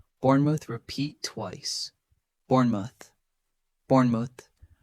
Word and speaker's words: Bournemouth: Bournemouth. Repeat twice. Bournemouth. Bournemouth. Notice the short O and light ending.